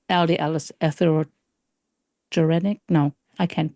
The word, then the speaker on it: atherogenic: them, why do you say LDL is atherogenic? No, I can't pronounce that word. Atherogenic is the Yeah, word.